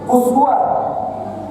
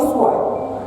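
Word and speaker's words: أسوة: ini ada dua riwayat riwayat yang pertama dikatakan bahwa ini dibacanya Uswah seperti yang di Quran Uswatun Hasanah tapi ada juga riwayat dari qasim atau dari qu ya dari Nafi ini dibacanya iswa makanya teman-teman kita yang sekolah di Libya ke sana itu biasanya bacanya iswah Nah ini apa bahasa quranuanya pernah sahih hadisnya boleh dibaca Uswa boleh dibaca iswa kenapa Karena di dalam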